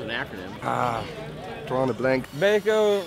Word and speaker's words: Baco: Baco rhymes with homo.